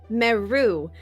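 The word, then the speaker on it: Merrue: Um my name is um Meu, which is m e r r u e with a silent e.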